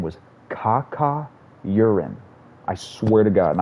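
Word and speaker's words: Cacaurien: uran's it was like c-a-c-a-u-r-i-e-n kaka urine and that's how you pronounced it too i think i never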